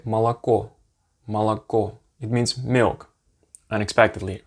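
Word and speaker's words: молоко: it as an ah let me give you an interesting word that has three os in it if you write it but two of them are pronounced as an ah malaco you hear that the first two o's since they're not stressed since the only the last vowel the last o is stressed you say basically so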